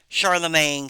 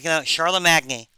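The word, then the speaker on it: Charlemagne: that's a French word Charlamagne so uh it sound it looks weird it's not pronounced the way it looks uh it looks like it should be Charlotte Magny uh anyway and the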